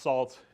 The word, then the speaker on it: NaCl: libraries these are things like uh so that's pronounced salt it looks like you know NaCl and lib